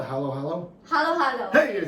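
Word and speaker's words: halo-halo: Halo. Halo.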